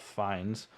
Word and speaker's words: Fiennes: There's a lot of emotions, but I also learned how to correctly pronounce Ralph Fiennes, who was Voldemort, into Rafe Yeah, Fiennes. it's like a rape. Even though it's art, Vines.